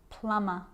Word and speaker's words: plumber: practice them with me i'm not pronouncing the b i'm just pronouncing the m consonant sound climb crumb lamb thumb dumb plumber and the letter b